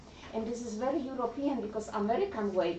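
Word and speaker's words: hay: So we would say by means to dance by I I I we're not pronouncing the H at all.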